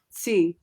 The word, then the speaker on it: Sze: C, like it sounds like TSE, but it's spelled SZE or SZE if you're American.